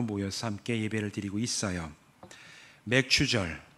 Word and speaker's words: 맥추절: 함께 예배를 드리고 있어요 맥추절 발음을 잘해야 되죠 잘못하면 맥주 감사절이 될 수가 있어요 그래서 옛날에 뭐 교회